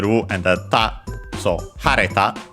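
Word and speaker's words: 晴れた: and the ta, so hareta. The accent of the te and ta forms are on the third syllable, so it moves. Third to last, syllable, so it moves in this case.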